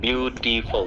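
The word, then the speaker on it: beautiful: যদিও এখানে অনেকগুলো মানে ভাগ আছে, বিউটিফুল তিনটা, এটা উচ্চারণ ফুল না, ফল।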